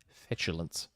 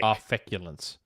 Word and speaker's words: feculence: I'll just have to feed the trolls my fetulence. Fetulence? Is that right? Is that the right way to pronounce it? Devour feculence, Nick. Feculence. All right. Because sometimes the C can be pronounced as a ch sound.